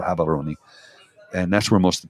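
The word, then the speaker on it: Gaborone: live in habon Gabon it's spelled Gabon g a b a r o n e but they pronoun gabs are or habon and that's where most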